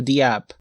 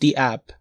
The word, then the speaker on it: dApp: A dApp, pronounced dApp, or now more commonly rhyming with app, is a software application that runs on a decentralized network, such as a distributed ledger.